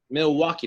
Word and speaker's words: Milwaukee: Milwaukee, that's how you pronounce it, Milwaukee.